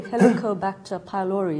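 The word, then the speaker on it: Helicobacter pylori: everyone else did but um and the name helicobactor pylori is that how it's pronounced yeah what why is it call that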